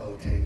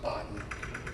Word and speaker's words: Bottin: And people always pronounce his name wrong. It's not Bottin. It's Bottin. Okay.